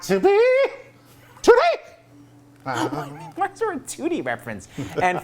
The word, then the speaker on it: Tootie: It is a 2-octave range, and I'm also obsessed that Tootie's name is in Tootie. She pronounces both T's.